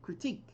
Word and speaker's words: critique: The stress is on the second syllable, critique. And there are two parts of speech to this word, a noun and a verb.